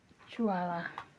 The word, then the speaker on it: Tuwalia: Aray, Pero nag-comment siya sa akin before, tama naman daw ba bigkas ko. Chuwala.